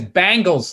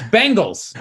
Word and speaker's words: Bengals: My buddy says Bangles, like the girl band. Yeah. It's Bengals.